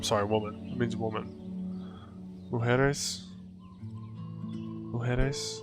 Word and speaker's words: mujeres: Because a J kind of makes an H sound in Spanish.